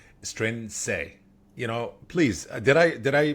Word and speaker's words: Strianese: Strianese. Please, did I pronounce it right?